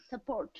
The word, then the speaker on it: support: Support. Okay, very good. And the stressed syllable is? The second.